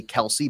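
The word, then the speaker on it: Kelce: their grandpa changed it it used to just be Kel but everybody would just say Kelsey because of how it looks so y we're just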